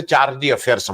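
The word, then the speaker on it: chargé d'affaires: हैं उनके हिसाब से चार्जी अफेयर्स हम लोग बोलते हैं। और उसको कोई फ्रेंच उच्चारण पड़ता है, लेकिन हम लोग मोटे तौर पे चार्जी अफेयर्स पढ़ते हैं।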